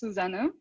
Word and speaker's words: Susanne: on my screen is suzanne or susannah thank you yeah sure so in german my name is actually pronounced susano so but it's okay